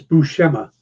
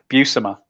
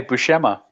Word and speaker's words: Buscema: oh that's news to me all right it's bouchema also oddly enough that was in that pronunciation guide where I learned some kevich Marvel